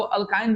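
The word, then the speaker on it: alkyne: अल्काइन का।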